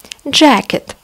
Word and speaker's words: jacket: видим две буквы a jacket куртка обратите внимание see kay дают один звук jacket куртка и кенгуру